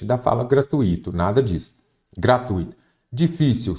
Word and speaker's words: gratuito: gratuito fortuito está errado a pronúncia correta e a escrita também é gratuito gratuito me confundi aqui com gratuito que aparece aqui a forma correta é gratuito tá bom muita a